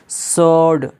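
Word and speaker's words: sword: Rape, WRAP, rape, जिसका माना होता है लपेटना, यहाँ पे डब्लू के बाद आर आया है तो डब्लू क्या हो गया, साइलेंट हो गया। सोड, एस के बाद डब्लू आया है तो यहाँ पे क्या हो गया, सोड, यानी कि डब्लू साइलेंट हो गया।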